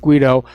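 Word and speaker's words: Guaidó: This Juan Guaido, and by the way, I was sent an email from somebody who says it is pronounced Guido, not Guido.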